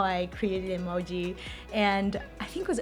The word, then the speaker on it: emoji: And the original pronunciation of emoji in Japanese is actually emoji.